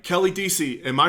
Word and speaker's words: Deasy: DC welcome to the show all right Kelly DC am i pronouncing oh yes you're actually the first person